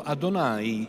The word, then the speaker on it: Adonai: dio dell'isodo in ebraico il nome inesprimibile si pronuncia appunto Adonai cioè il mio Signore